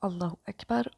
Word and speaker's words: Allahu Akbar: Ici, Allah étant sujet de la phrase Allah est plus grand, il prend donc la flexion du nominatif qui se marque par l'ajout de la voyelle brève U prononcée OU à la fin du mot.